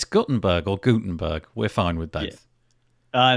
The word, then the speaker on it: Gutenberg: say it that way i thought it was gottenberg and apparently it's not apparently it is gutenberg with sort of like